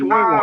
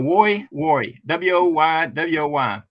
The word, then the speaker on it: Woy Woy: Yeah, I think it's Woy Woy. Oh, Wagga Wagga. No, Woy. W-O-Y. Oh, Woy It's a Woy. little north- Yeah, Woy Woy.